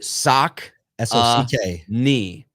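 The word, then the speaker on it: Saucony: they were going to change their name to sock knee sock uh KNE and it actually enabled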